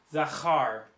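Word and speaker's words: זכר: It was a verb that was zachar. That middle letter has a noise.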